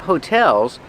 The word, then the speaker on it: hotel: And there are a lot of hotels because it's a tourist town. Remember, hotel, put the stress on the second syllable. Hotel. Not hotel, but hotel.